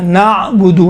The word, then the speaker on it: نعبد: بعض یہاں پر قلقلہ کرتے ہیں, نعبد, نا نہیں ہے, قلقلہ نہیں ہے, نعبد, نعبد عین ہے, عین قلقلہ نہیں ہوتا ہے.